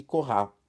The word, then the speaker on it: Coralie: Sílaba tônica tá no final, né? Então, aqui, Coralie, ele disse corrar, né?